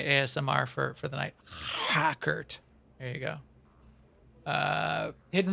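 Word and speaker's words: Hrakert: this is my asmr for for the night hackert there you go uh hidden resources uh talk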